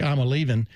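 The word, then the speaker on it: Iamaleava: with their quarterback, Nico Amalyava, I am Aliava. You can pronounce it eight different ways. It really sounds more like I'm leaving.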